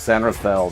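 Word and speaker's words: San Rafael: It's San Rafel.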